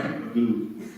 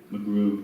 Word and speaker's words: Magoo: Magoo. Oh, I'm sorry. So is going to try something with, I beg your pardon? Magoo. How do you spell it? M-A-G-O-O. And what did I say? McGrew.